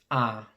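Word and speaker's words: æ: to the alphabet so the first one is the ah the r is like the a in add or the a in apple ah then we have the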